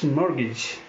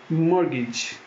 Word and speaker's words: mortgage: this word is fossum FAS TN Fossum T is silent we have this word now any guesses it's not modern age its mortgage mortgage then we have this fourth varies not often